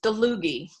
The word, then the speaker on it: Dlugy: it exactly and it's is deluzy so it's okay hard G and there's no e in between it's a DL ugy and it's it's